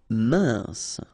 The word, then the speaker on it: mince: Mince, final E not pronounced, E-N together, un, mince.